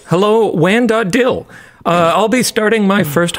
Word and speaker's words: WAN.dll: Hello, WAN.dll, pronounced dill. Hello, WAN.dill.